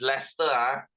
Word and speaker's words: Leicester: can you watch football okay guys this is pronounced as Leicester as in Leicester oh your dad does okay